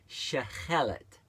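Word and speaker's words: שחלת: 7827, which would be pronounced very similar, Shechelet. So instead of the Tav, it's the shin at the beginning.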